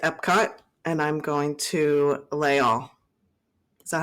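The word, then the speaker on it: Les Halles: So I'm going back to Epcot, and I'm going to Layall. Is that how you pronounce it?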